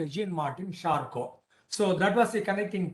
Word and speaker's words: Charcot: So Father Abbe Faria, and then we come across another person by name Jean-Martin Charcot, Jean, Jean, Martin, Martin, and Charcot, Charcot. Charcot, Charcot in French pronunciation.